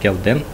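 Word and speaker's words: སྐལ་ལྡན: проследить смысл данного слова, и оно произносится «келден», и переводится с тибетского как «устойчивая кальпа».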